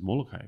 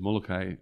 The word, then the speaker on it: Molokai: I mean, a great example is Molokai, right? Because Molokai, everybody has Molokai. This is the formal way that we say Molokai. Sure. And if you pronounce it differently, you must be wrong. But a Molokai, they say Molokai.